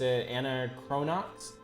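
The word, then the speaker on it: Anachronox: that an acronox uh i always pronounced anna cronox i i i assumed it was the same pronunciation as anachronistic doesn't anachronics uh and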